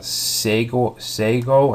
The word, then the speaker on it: Segoe: I want to use this Sego. I can't really pronounce it.